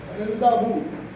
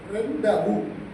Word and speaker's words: rendezvous: Pronunciation, O is not pronounced, it's pronunciation. So today's word is rendavu. Though the spelling is very weird, RENDEZVOUS. You will tempted to read as rendezvous, but it is pronounced as rendavu.